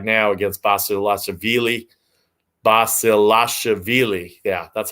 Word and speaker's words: Basilashvili: Andy Murray on the tube right now against Basilashvili. Yeah, that's how you pronounce it.